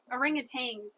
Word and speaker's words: orangutans: Orangutans. Orangutans, actually. There's no G in it though.